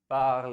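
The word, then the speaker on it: parlent: बताइए शिवानी क्या पढ़ते हैं P-A-R-L-E-N-T को? पार्ल. वेरी गुड, पार्ल पढ़ते.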